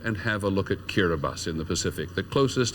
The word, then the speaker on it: Kiribati: It says Kiribati on your screen, but it's actually pronounced Kiribati.